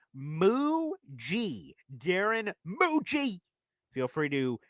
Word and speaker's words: Mougey: Muji. Okay. I at first, when I first saw it, it says, is that Muggy? Is that Mogi? What is it? But it is pronounced Muji.